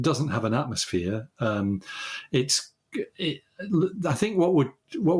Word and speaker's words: Io: have an atmosphere um it's i think what would what would be the killer for humans walking on on i or eo as it's sometimes pronounced is um the radiation